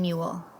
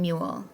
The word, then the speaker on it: mule: right it's an m what's the vowel in mule u and what's the consonant in mule the second consonant l and then at the end it has silent e all the words in